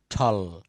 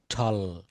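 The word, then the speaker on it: tall: কি বলছে টি সাউন্ড টি এর উচ্চারণ ট না হয়ে ঠ এর মত উচ্চারণ করতে হয় নিচের শব্দগুলো সঠিক চর্চার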